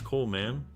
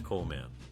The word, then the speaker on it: Colman: His surname is often mispronounced as Colman, but the correct way is Colman.